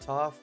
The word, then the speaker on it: Toph: Toph the Earth Bender, because it rhymes with tough.